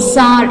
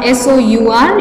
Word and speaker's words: sour: It is Sour cream, sour, S-O-U-R, you can either say sour or you can also pronounce it as sour. Sour or sour.